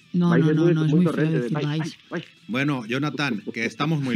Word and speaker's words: Valls: A ver, tío, yo digo Valls, y es como Arturo Valls. No, mira, no, te lo enseño a decir. Tienes que pronunciarlo con I, Valls, y entonces quedas bien.